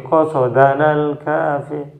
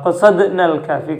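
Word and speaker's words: قصدنا الكافي: Itu ada orang sebagian yang bacanya gini, Allahul Kafi, Rabbunal Kafi, Qasadanal Kafi. Itu bedanya Qasadanal Kafi sama Qasadnal Kafi. Kalau Qasadnal Kafi, kami bermaksud atau kami menginginkan Allah.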